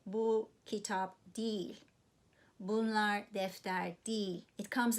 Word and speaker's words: değil: So don't be surprised how I pronounced it. I know it's written değil, but we say değil because it's easier to say değil. But of course it's written as değil.